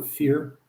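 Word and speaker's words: Fier: It's spelled F-I-E-R. They pronounce it, though, Fear.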